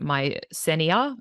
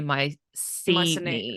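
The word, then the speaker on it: Mycenae: Also, apparently, Daniel mispronounces the name of the ancient city. He says, is it my Senia? It should be my Senia.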